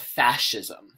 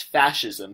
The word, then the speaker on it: fascism: actually support what's called fascism this word over here is pronounced as fascism say it with me